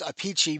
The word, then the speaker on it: Appice: Technically, the name is Apici because that's the Italian way of saying the name. And then he goes by Apice.